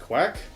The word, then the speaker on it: Kveik: However, in this case, I'm using a type of yeast called Kveik, or I think it might be pronounced quack. Depending on who you talk to, there's a lot of different pronunciations to it.